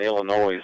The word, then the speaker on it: Illinois: it but uh you thanks for bringing Illinois in pronounced the S on the end I know that I